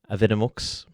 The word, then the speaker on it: Avidemux: call it avid because i'm not 100 how to pronounce a it it's d e m u x we'll say aveda mux but i just call it avid to save myself the embarrassment of column at the wrong name in here what we